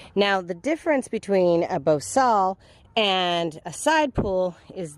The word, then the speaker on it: bosal: Challenge and that is the bosal or pronounced boosel and I've also heard the vakos always call it the bosia so take your pick whatever but basically it